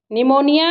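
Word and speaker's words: pneumonia: निमोनिया इस तरह से लिखा जाता है, पी इसमें साइलेंट रहता है।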